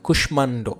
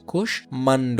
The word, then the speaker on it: কুষ্মাণ্ড: কুষ্মাণ্ড, হ্যাঁ, এইগুলো যেহেতু সংস্কৃত এক্ষেত্রে এটার কোনো বাংলা উচ্চারণ বিধি হচ্ছে না। কুষ্মাণ্ড, হ্যাঁ, মফলা থাকার কারণে এটা দুইবারও উচ্চারণ হচ্ছে না, সেক্ষেত্রে এখানে আনুনাসিক চন্দ্রবিন্দু এখানে উচ্চারণ হচ্ছে না।